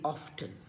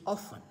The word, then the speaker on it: often: In American pronunciation, they say it often. In the British pronunciation, it is often. T is not heard.